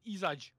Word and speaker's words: Isaac: Oradaki C normalde İzac diye okunur Türkçe okunsa.